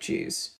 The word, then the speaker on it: due: A lot of Australian words that start with D-U for a lot of the country, not the whole country, we also have multiple accents, are pronounced with a J sound.